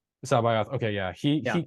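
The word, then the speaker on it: C'baoth: the canon version of Saboeth. Is that how you say his name? He's yeah. He's Joris. In the audiobook, they pronounce it Sebioth. Sabayoth.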